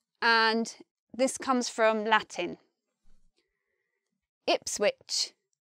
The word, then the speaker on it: Ipswich: Here we've got which, and here we've got ridge. They're spelt the same, but one comes out with the j sound and one comes out with the ch sound. Ipswich, Norwich. Spelt the same, sound different.